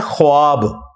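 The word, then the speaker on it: خواب: नहीं आ सकता अच्छा यह लफ्ज लिखने में है ख्वाब ख वा अलिफ बा लेकिन पढ़ने में यह ख्वाब है वाओ साइलेंट हो जाता है ख्वाब पढ़ा जाता है यह लफ्ज़ उर्दू में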